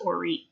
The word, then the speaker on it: Orit: it written out but it's pronounced Orit is it Orit okay got where's that from it's Hebrew oh wow that's so